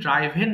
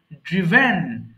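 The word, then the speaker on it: driven: এখানে বিপদ হয়ে যায় আমরা বেশিরভাগই ড্রাইভেন বলে ফেলি হ্যাঁ উচ্চারণটা হবে কিন্তু ড্রিভেন ড্রিভেন ড্রিভেন আচ্ছা নেক্সট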